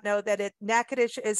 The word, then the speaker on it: Natchitoches: know or you may not know that it nakadish is spelled n-a-t-c-h-i-t-o-c-h-e-s so it's a little bit different